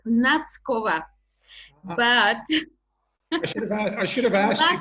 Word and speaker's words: Nackova: No one does anyway, because you don't have T. It's between T and S. And it's quite difficult to pronounce.